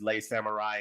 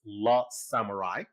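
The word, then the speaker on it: Le Samouraï: title on this channel I refer to as lay Samurai and someone you know the pronunciation police came out and and corrected me on that so it's lot Samurai this film from 1967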